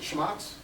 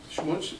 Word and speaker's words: schmutz: Is it schmatz? Schmutz. Is it CHAM? ETZ? How's that pronounced?